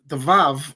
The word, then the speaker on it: vav: The Vav, I believe, it should be pronounced V rather than a W sound.